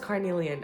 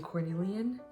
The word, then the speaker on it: carnelian: Yes, I am saying it wrong. It's carnelian. I knew it. Maybe I just like saying cornelian.